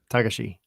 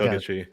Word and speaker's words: Togashi: With Japanese names, there's a little bit less of an emphasis on the syllable, so it's more like Tagashi. So it's not like Togashi.